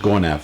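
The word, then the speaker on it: Gonâve: G O N A V E. Uh, pronounced Gonaf.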